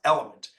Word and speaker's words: LMNT: I have yet to try them, but they're called Element, and it's LMNT, but it's pronounced Element, and it's basically your electrolytes.